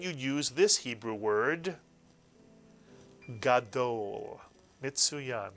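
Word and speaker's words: גדול: use this Hebrew word, gadol, mitsuyan, 2 vowels, 2 syllables, gadol.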